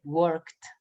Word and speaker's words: worked: Por eso cuando yo pronuncié ahorita trabajo, yo dije worked, porque yo sé que como work termina en K, suena como una T, worked, worked, worked, worked, worked, worked, worked, worked.